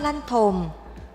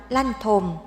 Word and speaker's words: ลั่นทม: บ้าน ต่อ เนื่อง จาก ชื่อ ของ ต้น ลั่นทม ก็ ยัง ออก เสียง คล้าย กัน คำ ว่า กระทม ที่ แปล ว่า ความ ทุกข์ ก็ เลย มี ความ